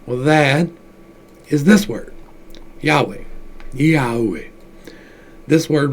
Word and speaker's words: Yahweh: but this is is this says yahuwah but that's not quite right if you look at the cabal Kabbalah they tell you the pronunciation of it is Yahweh right well that's a